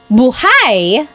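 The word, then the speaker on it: buhay: If you say buhai, the emphasis is on the second syllable. Buhai. That means alive.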